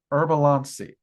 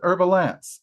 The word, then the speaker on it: Harb-alancee: of the autumn equinox, herbalansi. Um, I do occasionally pronounce it herbalance. Um, and that's because, you know, she has allowed me to pronounce it that way a time or two and I've worked with her for so many years.